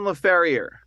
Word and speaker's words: Laferriere: it wrong tell us it's laferrier La Ferrier like uh like a like like a horseshoeer like a horse yeah like I said